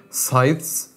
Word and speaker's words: Scythe: I'm so proud that I just pronounced sites correctly like scythes great this is the